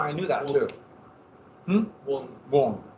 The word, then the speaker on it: Kuan Yin: Is it Kuan Yin? Wang Yin. It's wrong. I knew that too. Wong. Yeah. Like W-U-N-G. Even though it's spelled Q-U.